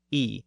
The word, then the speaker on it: I: The scribe routinely refers to himself as I, pronounced E at the time.